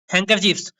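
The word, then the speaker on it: handkerchiefs: चलो, हैंकरचीफ्स क्या होगी, हैंकरचीफ्स की स्पेलिंग क्या होगी, हैंकरचीफ्स की स्पेलिंग, यस, हैंकरचीफ्स की स्पेलिंग क्या होगी, हैंकर HAND, hand KER, D silent होता है, ठीक है, CHIEF होता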